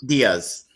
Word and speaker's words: Diaz: Yaya Patricia Diaz? Diaz.